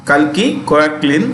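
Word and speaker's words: Kalki Koechlin: and all that i hi i'm kalki kirklin kalki koaklin i was born to you know born in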